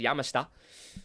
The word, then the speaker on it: Yamashita: It was spelled as Yamashita, but I did my research on the pronunciation and I got a Japanese pronunciation and they said it's Yamashita.